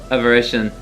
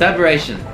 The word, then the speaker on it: aberration: Yes, I think I immediately got the pronunciation wrong here. Yeah, that's it. The same thing as an anomaly. I always struggle with saying anomaly or deviation. Okay, it's aberration. Aber aberration. Okay.